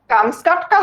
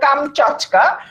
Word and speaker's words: কামচাটকা: কামস্কাটকা হচ্ছে প্রকৃত উচ্চারণ হলো কামচাটকা, রাশিয়ার অন্তর্গত সাইবেরিয়ার উত্তর পূর্বে অবস্থিত একটা উপদ্বীপ।